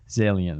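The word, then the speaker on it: Zaillian: How do you pronounce it again? Steve? Zalian.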